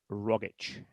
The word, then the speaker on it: Rogic: The actual pronunciation of his name, as he says his own name, is Tom Rogic.